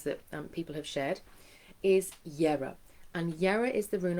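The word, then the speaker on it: Jera: Even though it begins with a J, it's that like Jungfrau. If you know the mountain, the Jungfrau, it's the Y sound. It's what our ancestors, that's how they would have pronounced their J's.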